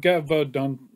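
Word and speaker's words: Gévaudan: I think I've been saying it wrong. It's Gevaudan, not Gevaudan. It's Gevaudan. right, so far I've heard 2 songs.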